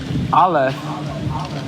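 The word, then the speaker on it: aleph: No, alf. It's alf. Yes, that's the order of the alphabet. But the alf the bed in a sense represents the containment of the alef.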